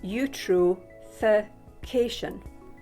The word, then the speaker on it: eutrophication: other animals via something called eutrophication that is pronounced eutrophication this is when nitrates and phosphates cause too